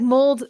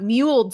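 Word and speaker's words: mulled: Yeah, it's mold. It's like mold cider. It's not muled cider. It's mold cider.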